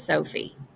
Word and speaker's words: Sophie: When we're saying the word, the first syllable, so, gets a little bit more emphasis. Our mouth is open wider, our voice tends to go up a little higher, and we hold on to this syllable a little longer.